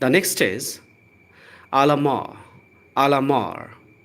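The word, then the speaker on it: à la mort: द नेक्स्ट इज आलामार। आलामार। आर का sound र आपको बोलना है, टी का साउंड यहाँ नहीं बोलना है। लेटर टी का साउंड नहीं प्रोनाउंस करना है।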